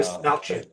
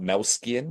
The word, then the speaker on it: Dastmalchian: Desmalchin. It's Melchin, not Melskian, because I've heard Yeah, both. Desmalchin. It's Des, Desmalchin. Des Melchin.